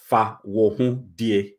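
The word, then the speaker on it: Fawohodie: So today's one is called Fawuhudie, Fahudie. Yeah. So if you pronounce the syllables, it's Fahudie. And then as you're saying it, it means Fahudie.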